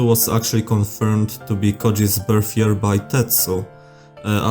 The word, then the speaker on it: Közi: And the O with an Omloud is not pronounced uh like it would be pronounced in German.